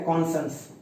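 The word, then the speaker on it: conscience: कॉन्साइंस, देखो बोलने के लिए तो इसको मैं कॉन्साइंस बोल रहा हूं, बट इसका जो सही प्रोनाउंसिएशन है वो है कॉन्संस, कॉन्संस, कॉन्सन, कॉन्संस का मतलब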